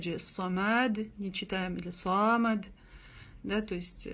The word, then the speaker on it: صمد: Аллаху самад. Опять же, самад не читаем, или самад. Да, то есть буква даль в конце тоже не глушается. Не говорим самад. Да, д, как и здесь.